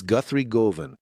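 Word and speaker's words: Guthrie Govan: And there's a guitarist I really like, which is Guthrie Groven. Guthrie Groven. I'm not sure if that's exactly how you say it. Oracle. It's Guthrie Groven.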